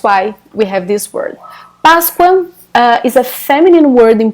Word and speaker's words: Páscoa: right, of the word Páscoa. So it's just like this. Páscoa, Páscoa, Páscoa. Notice that the main important, it's great, the most important syllable is the first one.